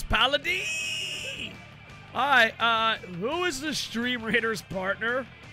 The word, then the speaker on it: Paladin: Why does he pronounce Paladin? Alright, who is the Stream Raiders partner? Come on, dude. You think Stream Raiders would just give someone partner who doesn't know it's pronounced Paladin?